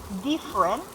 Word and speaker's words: different: You can actually pronounce the word diff, Uh-huh. but when it comes to the second F, it became T. Uh-huh. Different. Different. It, Mhm, it should be softer, different.